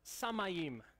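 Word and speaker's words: שמיים: hebrew is pronounced you're ready for this it's pronounced samayim which is a lot of fun to say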